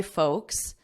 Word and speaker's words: folk: should know the pronunciation it's the same pronunciation as the vowel in oak oak tree or joke whatever word you know the pronunciation of you can use that as an anchor word folk no L silent L and this is the